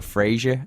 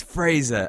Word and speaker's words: Fraser: They go Fraser, and I'm not really that bothered about it. But there's one interview where he goes, "It's not Fraser, it's Fraser," and he not loses